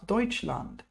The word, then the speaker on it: Deutschland: Ich komme aus Deutschland. Now, if you might notice the way I pronounce Deutschland, T is kind of silent, yes, and T and S both semi-silent.